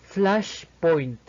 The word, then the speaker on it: flashpoint: de la I española, y finalmente con las dos últimas sílabas, la N española y la T, el cual su sonido es más explosivo que el de una T española. Por lo tanto, su pronunciación sería flashpoint. El siguiente término por explicar